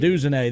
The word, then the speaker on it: Odunze: And I always mispronounce his last name, so I'll let you take it. Rome Odunze. Odunze, there we go.